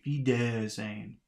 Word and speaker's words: Wiedersehen: 45, It says it's the second one. That would be Wiedersehen. Wiedersehen. I guess. How would it be if it was the first? Wiedersehen.